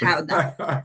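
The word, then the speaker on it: Gouda: with smoked how cheese cuz everybody Americans say good because and I gota I'm Dutch so it's how and like let me stand corrected over here. You guys are not saying it right.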